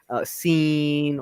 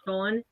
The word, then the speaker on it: Sean: A lot of people, it's because how it's spelled. People would pronounce it a different way. My spelling is actually the original spelling, Mm-hmm. so I'm used to people saying like "seen" or "share" or whatever, you know. So I'm used to it.